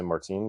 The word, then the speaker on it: Martin: I'm going to say Martin because they're all French Canadian.